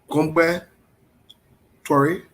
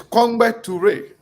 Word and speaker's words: Kongbe Toure: Gombe Torre, welcome to the show. We can hear you. It's Kongbe Toure.